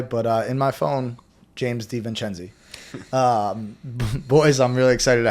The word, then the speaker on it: DeVincenzi: DeVincenzi. DeVincenzi. So JD is what he goes by, but in my phone, James DeVincenzi.